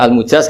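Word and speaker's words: المجاز: Bacanya al-mujaz karena dari fi'il madhi ajaza.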